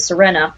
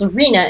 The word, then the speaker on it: Serena: when we're playing Sarina I have been pronouncing it Serena it's Sarina and it's a point-and-click